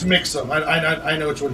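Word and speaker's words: Mixam: Uh, I hope I'm pronouncing this correct, not Maxim. Okay. Min max mother vi mixum. M I X A M. Yeah. Yeah, it's it's mixum.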